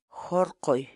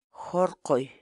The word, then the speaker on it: horqoy: de videos en la que te enseñamos a pronunciar algunas palabras en quechua. Así que nuestra palabra del día por hoy es Jorqoy, jorqoy, jorqoy, la palabra quechua.